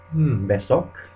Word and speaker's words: besok: Um, an example of a word where it's pronounced like an a, like in Spanish a, is besok.